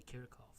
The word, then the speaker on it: Kirchhoff: way of pronouncing this it is the German surname so the correct pronunciation is actually karakov but you know either